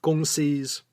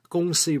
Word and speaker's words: kongsi: that's where the term gong see republic came about and it all took place in kalamantan barat western kalamantan and what's today the great republic of indonesia agongsi now this is the cantonese pronunciation the mandarin term kung